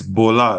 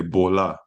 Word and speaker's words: Bola: baa like y or no it's Bola like in lingala we say Bola Bola okay yeah I thought